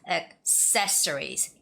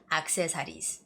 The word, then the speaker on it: accessories: it's really important to keep the second syllable stress so it's accessories not accessories okay and the word